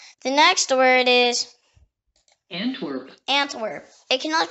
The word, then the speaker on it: Antwerp: The next word is Antwerp. It can also be pronounced Antwerp or in French Anvers, or in Flemish Antwerpen.